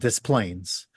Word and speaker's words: Des Plaines: Yet in Chicago, there's a suburb called Des Plaines. So same spelling, just some people, pronounce it literally, and some people use I guess it would be the French original pronunciation.